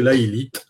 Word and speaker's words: Laelith: sur alors laite déjà on prononce bien laite ou on peut dire la'en va tout de suite avec un T et pas de H c'est pas c'est à l'anglaise non non c'est lalite à la française avec un T